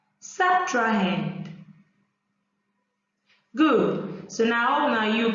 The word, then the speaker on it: subtrahend: meanwing and the second number is being pronounced subtrahend subtrained subtrahend good so now now you can pronounce the